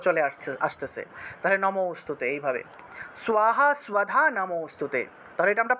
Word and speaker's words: স্বাহা: স্বাহা স্বধা, এই যে স্বাহা উচ্চারণ হবে, দন্তের স্বরের নিচে বফলা থাকলে সেটার উচ্চারণ হবে স্বরূপে উচ্চারণ হবে। তাহলে স্বাহা স্বাহা, ঠিক আছে?